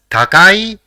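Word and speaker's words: たかい: The first character in the word is ta, the second is ka, and the third is e. So it will be pronounced as takai, which means expensive.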